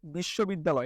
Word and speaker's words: বিশ্ববিদ্যালয়: simple তাহলে আমরা এটার উচ্চারণ লিখে ফেলি বিশ্ব বেদ দা লয় উচ্চারণ লিখে ফেললাম মুখে